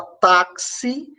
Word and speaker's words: táxi: de KS por exemplo a palavra taxi palavra táxi tem um x com som de KS que que a gente